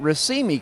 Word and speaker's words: Racemi: So it's it's RIMI which uh really should be Rimi uh which is a